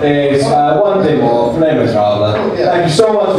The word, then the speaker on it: Les Misérables: Do you like Les Misérables? That's how you pronounce it, right?